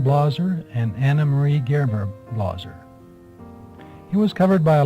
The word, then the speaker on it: Blaser: younger than he was the family pronounced their name blosser in Switzerland and in Montpelier on